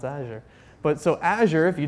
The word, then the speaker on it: Azure: talk about cloud initiatives so Asher rhymes with badger always remember that it not a juror or any other pronunciation so you're you know